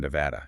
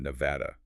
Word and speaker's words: Nevada: Most people lean into the Spanish origin, Nevada, which means snow-covered, so they use that soft ah sound.